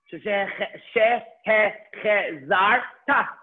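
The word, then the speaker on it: שֶׁהֶחֱזַרְתָּ: Why am I connecting the resh? Because the resh has a shva. She, he, zar, ta. She, he, zar, ta. Okay, so the shin, the hey, the chet, all have segos. The zayin has a patach. You connect the resh to the zayin, zar, and then the taf with a kamat, ta.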